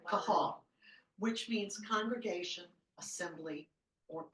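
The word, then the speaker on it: קהל: the Hebrew word and I don't even know how to pronounce it q a a l Cal is how guesses kahal which means congregation assembly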